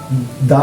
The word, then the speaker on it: the: এই তিনটি শব্দের পূর্বেই আমরা যদি ডেফিনেট আর্টিকেলের ব্যবহার করি তবে তার উচ্চারণ হবে দি দ্যাট মিন্স দি অরেঞ্জ